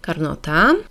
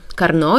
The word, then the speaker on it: Carnot: i taki cykl nazywamy cyklem carnota czy też cyklem karno jeśli być wiernym wymowie francuskiej nazwiska tego naukowca na część którego zostało